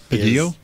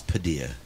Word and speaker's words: Padilla: Your last name, Padillo? It's Padilla. Padilla. Yes. Thank you for it being rhymes with tortilla.